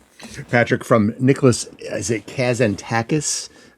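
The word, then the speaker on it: Kazantzakis: Is it Kazantakis? Kazanakis. Yes. Kazanak. Yes. I'll leave you leave it to your good pronunciation in in from his poetic the Odyssey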